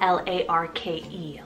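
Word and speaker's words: Larke: also have the animal name here Lark spell l-a-r-k-e Lark very unusual and I feel underused quite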